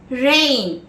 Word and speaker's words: reign: Next word, reign, R-E-I-G-N, where the G is silent.